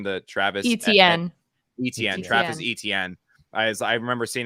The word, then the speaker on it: Etienne: James Robinson, and I guess you drafted his boy Etney. How do you say his last name? The Travis Etienne. Etienne.